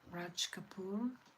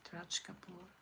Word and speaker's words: Raj Kapoor: and singing, and is it like famous actor Raj Kapoor? Am I saying it right? I mean, I think I'm saying it right, Raj Kapoor.